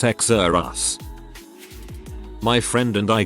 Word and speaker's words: Xerxes: emphasis on first syllable xerxes pronounced exer us my friend and i